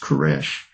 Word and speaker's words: Koresh: Cyrus in Hebrew is pronounced Koresh.